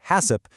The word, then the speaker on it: HACCP: It is directly based on the world-renowned HACCP system, pronounced "Hassip", which stands for Hazard Analysis and Critical Control Point.